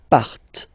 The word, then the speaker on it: partent: Remember, classic ending, ENT, but then you don't pronounce them, partent.